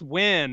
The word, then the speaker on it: Nguyen: It's pronounced win, and it's spelled Nguyen.